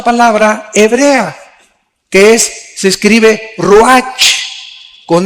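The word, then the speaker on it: רוח: Aquí se usa otra palabra hebrea, que se escribe ruach, con R de Raúl, A-C-H, se pronuncia ruach. Por ejemplo, cuando hablamos del Espíritu Santo, el Espíritu Santo es ruach, el kadosh.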